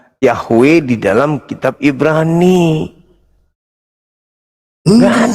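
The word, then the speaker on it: Yahweh: Yang paling tepat pengucapannya itu Yahwe.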